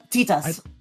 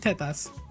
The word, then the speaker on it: tetas: Titas.